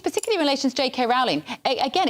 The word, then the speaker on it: Rowling: So what this story is not about, and it's Rowling, as in bowling, and that's how she pronounces her name, so revelation for everybody.